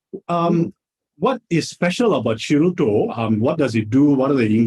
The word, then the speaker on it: Shiruto: Yeah, actually, Shiroto itself, the name, if you think you talk about you pronounce Shiroto the time, the shi is sound like shield, a shield that going to defend yourself, the shield.